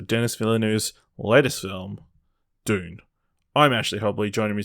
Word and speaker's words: Dune: miller news latest film dune i'm ashley hobley joining me today dylan blight happy to be here to talk about june no it's dune june i don't but they